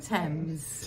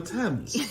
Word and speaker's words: Thames: On the River Thames.